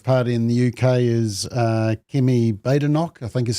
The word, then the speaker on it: Kemi Badenoch: And you'll be interested, Simon, that the new leader of the Conservative Party in the UK is Kemi Badenoch, I think is how you say it.